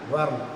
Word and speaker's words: whorl: Dear children, whirl you are moving. Whirl, see the spelling. W-H-O-R-L. New thing for you, na? Whirl.